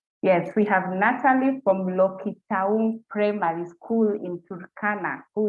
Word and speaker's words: Lokitaung: Natalie from Lokita. Just a minute, let me get my pronunciation right. I'm sorry about that. Let me just pronounce that right. Yes, we have Natalie from Lokitaung Primary School in Turkana, who is the first runner-up.